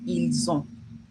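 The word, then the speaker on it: ils ont: I know I said don't pronounce the S, but because this is followed by a vowel, you would say ilson. You link it together, it's like Z, so it becomes il.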